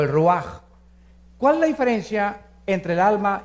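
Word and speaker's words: רוח: hebreo es nepe y la palabra espíritu es ruaj se escribe ruach entonces vemos aquí dos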